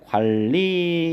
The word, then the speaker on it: 관리: 같은 경우는 여러분 보시면 니은하고 리을하고 만나는데 이런 경우는 리을의 영향을 받아서 니은이 리을로 바뀐다. 유마 현상이 되는 거잖아요. 그래서 이렇게 리을로 발음이 돼야 되기 때문에 관리 이렇게 비음화 현상이 유마 현상이 일어났다.